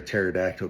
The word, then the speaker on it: pterodactyl: And uh why can't you hear a pterodactyl go to the bathroom? Cuz the P is silent.